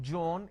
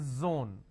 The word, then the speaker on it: zone: jar it's a mispronunciation it's not jibra it's zebra it's not john it is zone it's not g it is zeal it's a z sound another mistake that people